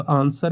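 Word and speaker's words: answer: मुख अक्षर है तो आंसर में देखिए हम लोग डब्लू को साइलेंट कर नहीं बोलते हैं तो यह आंसर है इसमें डब्लू साइलेंट है अब एमएसएमई का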